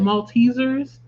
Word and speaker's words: Maltesers: Maltesers. Okay. Cuz I wasn't sure. It was like cuz it's spelled M A L T A.